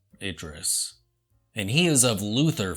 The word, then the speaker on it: Idris: I think it's pronounced Idris.